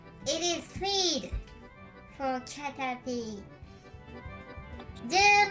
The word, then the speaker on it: Caterpie: キャタピー is also in English.Pronunciation Catapy だそうです。